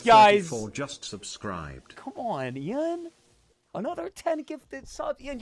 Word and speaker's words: Ian: So if you could please go ahead and type Ian instead of Ian. There is one syllable, not two. Say it with me, Ian.